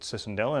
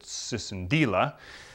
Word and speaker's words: Cicindela: Their names start with the word Cicindela, which is their genus, although some people pronounce it Cicindela and some people pronounce it Cicindela.